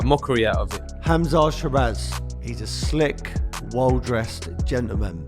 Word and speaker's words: Sheeraz: I want to get the pronunciation of your surname right. Yep. Sheeraz, is correct?